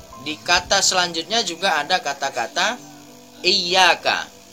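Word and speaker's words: إِيَّاكَ: selanjutnya juga ada kata-kata Iya Kak Tidak boleh terlalu didengungkan masjidnya dan ianya hanya sebatas dua harokat et aka tidak boleh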